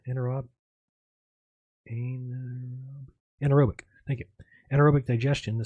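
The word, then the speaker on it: anaerobic: anotic oh an how do you say anorob anorobic thank you anorobic digestion the solid material remaining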